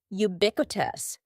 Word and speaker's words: ubiquitous: Next, don't be fooled by the first letter U. We pronounce it with a Y sound. Ubiquitous.